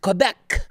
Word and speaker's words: Quebec: the province of quebec uh pronounced quebec for all of those you still think french is a relevant language a father has been